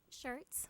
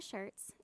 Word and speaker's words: Schirtz: shirts like what you wear. It's just spelled differently. My name is Schirtz.